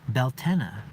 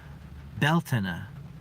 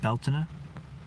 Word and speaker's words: Beltane: or whatever okay luminous 33 says Beltane is pronounced bal tena with an accent on Belle Belle Tana like that I imagine belt Anna and today I learned something from luminous 33